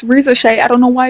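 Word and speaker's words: Risacher: That's why Razarka, and my bad guys, I keep calling him Razarka, but it's Rizashay.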